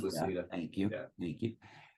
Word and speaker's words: Lucida: I always screw up Lucida. Yeah, it's pronounced Lucida.